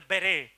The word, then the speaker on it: beret: of felt yeah the ber it is pronounced as the B the t is silent ber yes but I'm not